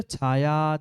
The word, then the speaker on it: छाया: अस्त्यत्र छाया छत्रात्, अस्त्यत्र छाया छत्रात्, च भी पढ़ना है। छाया, मात्र छाया नहीं है, छाया, च और छ, छाया, च का आधा उच्चारण और छ।